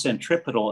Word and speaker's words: centripetal: 75 cents so ron that word is is pronounced centripetal it means center seeking center seeking center seeking